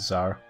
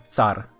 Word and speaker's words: tsar: i'm not sure actually i think it's zar i mean the english always wrong yeah i mean they are wrong but uh if i was uh talking just slavic pronunciation of everything then it wouldn't get far i think is that star in slavic it's tsar at least in polish isn't that weird